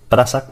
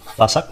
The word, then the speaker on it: Phasak: En el vídeo dice Prasac, porque es que me sale Prasac, en mi grupo de amigos siempre diré Prasac, pero bueno, se pronuncia Fasac, ¿vale?